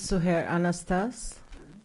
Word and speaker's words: Suhair Anastas: My name is Suhair Anastas. It's spelled S-U-H-A-I-R, and then the family name A-N-A-S-T-A-S.